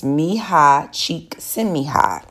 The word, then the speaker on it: Mihai Csikszentmihalyi: It's a very difficult name to pronounce, but it's Mihai Csikszentmihalyi.